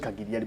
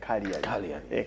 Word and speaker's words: Cagliari: Empoli against Cagliari, not Cagliari, but Cagliari. Cagliari. Then so we eliminate the G. The G is silent.